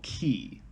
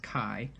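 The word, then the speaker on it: χ: This is the Keyblade with the Greek symbol key. Also could be pronounced Kai.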